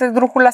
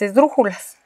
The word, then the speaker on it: esdrújula: ok entonces fíjense y la palabra esdrújula en sí misma es esdrújula porque porque si la sílaba tónica se encuentra antes ante al en la ante penúltima sílaba perdón por el trabalenguas